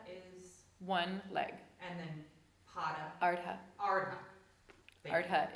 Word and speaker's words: Pada: and then Pada, Ardha. Ardha. Thank you. Ardha is half. Oh, yeah, it wouldn't be Pada, Padmasana, but feet.